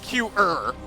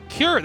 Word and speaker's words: Cure: it's not Q-er. Q-er, herder, Q-er. No, tasteless. Cure? Cure. That's it. That's how you say it.